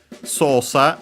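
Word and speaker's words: 操作: Sosa is a Chinese compound. This one is accent on the first syllable. We could say first mora, doesn't change. So high, low, low.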